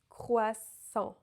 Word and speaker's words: croissant: A and N together is a nasal vowel. It's the nasal vowel en.